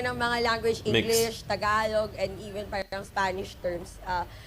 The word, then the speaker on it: Tagalog: Danny, I told you it should be Tagalog, okay? Tagalog or Filipino. It should not be Tagalog.